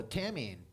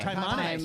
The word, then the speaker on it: Taimane: Tamine. She's from here. Oh, Taimane. Taimane.